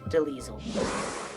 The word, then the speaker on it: Delisle: Gray Delisle. Sometimes pronounced Deliesel.